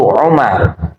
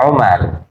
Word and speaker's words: Umar: tirukan Bismillahirrahmanirrahim amibniaibin ya Jadi kalau Ain Mim ada wawunya itu Amrin tapi kalau tanpa Waw belakangnya itu Umar ya Amr dan Umar walaupun hurufnya sama tapi beda bacanya untung untuk diberi harakat